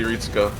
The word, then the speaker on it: Retsuko: Yeah, Retsuko. I don't know. I don't know shit. I don't know, the one thing on Japanese pronunciation I looked up did say Ritsuko. Ritsuko. With an E sound.